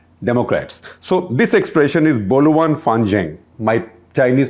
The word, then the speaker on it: Boluan Fanzheng: So this expression is Boluan Fanzheng. My Chinese pronunciation is obviously not perfect.